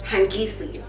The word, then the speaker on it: Hangisi: put that on there, and it is the Hangisi.